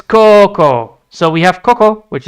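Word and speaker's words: 高校: Coco. So, it's a long O. So, you don't even speak it out properly. Oh, for sake. All right. Uh, so it's Coco.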